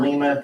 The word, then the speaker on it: Lima: You get to Lima, Ohio, or Lima, depending on how you want to pronounce it.